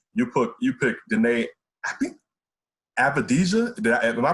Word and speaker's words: Avdija: And correct me, you picked Deni, I think, Avdija. Am I pronouncing that correctly?